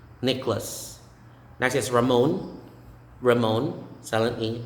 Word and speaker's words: Nicholas: then simone nicholas nicholas you don't say nicolas it's necklace nicholas that is ramon ramon